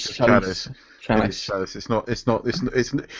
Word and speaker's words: Chalice: does she pronounce her name Chalice? No, Yeah, it's just Chalice. It is Chalice.